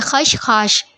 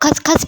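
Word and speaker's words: खशखाश: खश खाश है अच्छा सही प्रोनाउंस यही है खश खाश ठीक है कुछ लोग खश खस भी बोलते हैं खसखस नहीं है एक्चुअली खश खाश है ठीक है तो और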